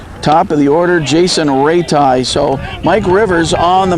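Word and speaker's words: Raiti: His name is Ratai. He spells it R-A-I-T-I. But pronounced Ratai.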